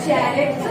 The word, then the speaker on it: character: Here, C gives you sound K. Here, this gives you Ch. What is the pronunciation? Character. Character. Here, K.